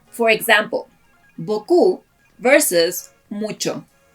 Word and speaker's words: beaucoup: For example, beaucoup versus mucho. If beaucoup were a word in Spanish, since it is a phonetic language, each letter would be pronounced, as in beaucoup, but that's not a word in Spanish.